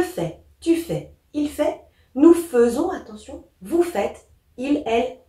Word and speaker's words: faisons: F-A-I-S-O-N-S, mais on prononce nous faisons. Hein. Attention, c'est différent.